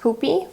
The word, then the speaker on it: Puppi: It's actually pronounced Puppi from the Polish word pupa, which means bottom.